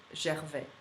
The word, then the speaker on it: Gervais: Actually, Brenda has it's Brenda Gervais. This is how you call her. But Gervais, her last name is obviously of French origin, and so I would pronounce it Gervais.